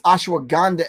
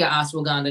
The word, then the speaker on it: Ashwagandha: Does ashwagandha help with the anti-aging?